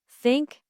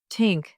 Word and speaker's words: think: in words like thanks, think, and with. Many learners replace it with s or t to pronounce th correctly. Place your tongue lightly between your teeth and blow air out.